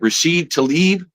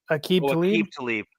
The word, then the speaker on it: Aqib Talib: Rashid Tlaib, the defensive back. Aqib Talib.